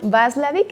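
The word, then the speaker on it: Watzlawick: Este psicólogo lo van a encontrar, si ustedes lo buscan, se escribe P-A-U, es Paul, y Václavic con W, con W, Václavic.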